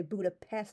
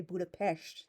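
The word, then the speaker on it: Budapest: has that sound and the letter S by itself is pronounced like an SH in Hungarian. So, for example, we they don't say Buddha pest, they say Budapesh.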